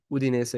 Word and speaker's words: Udinese: Udinese, yeah.